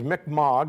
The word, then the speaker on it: Mi'kmaq: tribe called the Mi'kmaq the real pronouncing is Mick MOG that's what they prefer we pronounce it Mi'kmaq the Jesuit priests